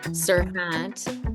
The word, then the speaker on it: Serhant: Ryan Serhant, but also opened up the first Serhant, right?